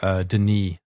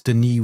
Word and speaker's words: Denis: I mean, I was pretty much red-pilled after chatting to Denis. By the way, it's Denis with a silent S because he's Canadian and French.